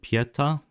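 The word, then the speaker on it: Pietà: Uh, pieta, that's how it's pronounced in Italian at least, meaning piety, compassion.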